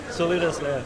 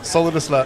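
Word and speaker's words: Solidus Labs: Solidus Lab. Solidus Lab.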